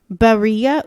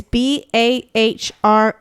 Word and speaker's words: Bahriye: a polarizing figure named, I'm going to butcher the name, and I'm sorry, Berea Cox. That's my best. If you want to try it, it's Bahriye. Last name Ucok.